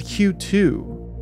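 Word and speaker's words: 九: This translates to Q1 and Q2, which means that QQ is actually an official moniker.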